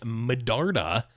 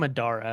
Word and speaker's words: Medarda: Jay Medarda becoming. I always forget there's a D in his last name. I always call him Madara.